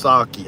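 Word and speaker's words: sake: is getting the money uh Natalie says it's pronounced saki okay yeah see I I told you Natalie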